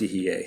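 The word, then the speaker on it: יִהְיֶה: is he is; and Yiveh. Am I saying that right? I'm sorry. He is now and will continue to be in the future. Together, Hova, Hoveh, and Yehyeh, so it's Yehyeh, sorry, combine into the name Yehovah.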